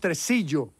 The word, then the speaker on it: Tresillo: It's pronounced tresillo.